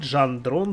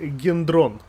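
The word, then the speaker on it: Gendron: уже забуду то м39 жан дрон с ума я специально учил это название потому что она пишется пару латинице как ген дрон вот правильно по-французски и все-таки говорить жан дрон короче был такой инженер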